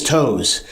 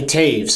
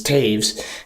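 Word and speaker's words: Toews: Now, people who aren't in the know will say that name is Toes, but it's actually Taves. That's how it's pronounced. It's Taves, and it's got the 19 double stitched.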